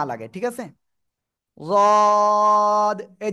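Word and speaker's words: ض: এই জায়গা তাই না জিহ্বার গোড়া ডান পাশ বা বাম পাশ উপরে মাড়ির দাঁতের গোড়ার সাথে লাগাবেন সেটা বাম পাশ ডান পাশ যেকোনো পাশ হতে পারে লাগিয়ে আপনার মোটা আওয়াজে আপনার কি করতে হবে তিন আলিফ টেনে উচ্চারণ করতে হবে এই যে জিহ্বার আগা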